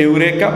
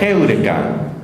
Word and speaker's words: heureka: La gente dice eureka, pero me enseñaron que la pronunciación correcta era heureka.